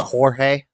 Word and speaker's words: Jorge: In Mexican, it's pronounced Jorge.